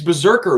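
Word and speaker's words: BRZRKR: Keanu Reeves' Berserker, which is spelled B-R-Z-R-K-R.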